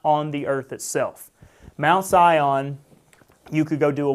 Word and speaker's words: Sion: "stood on the Mount Sion." Zion is another way to pronounce it.